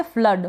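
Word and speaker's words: flood: यानी double O को अ किस तरीके से? फ्लड।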